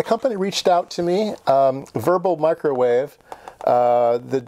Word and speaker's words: Werbel: reached out to me verbal microwave uh that this is a German W lease it's it's pronounced verbal uh microwave and they